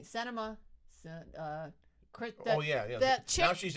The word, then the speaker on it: Sinema: Sinema.